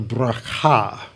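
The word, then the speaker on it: ברכה: called the valley of bracha that's the correct hebrew pronunciation the valley of barakah for there they blessed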